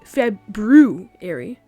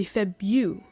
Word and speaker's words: February: Like, you don't say February, but you say Febu.